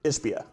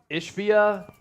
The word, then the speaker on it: Ishbia: Ishbia. Ishbia.